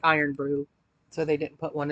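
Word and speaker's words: Irn-Bru: to open the other bottle one pounder fizzy iron Brew soft candy huh gummy candies inspired by a famous Scottish soda so I guess these are supposed to taste like iron Brew so they didn't put one in the Box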